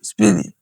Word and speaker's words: SPDY: Engineers at Google start working on an experimental protocol they call SPDY, pronounced Speedy.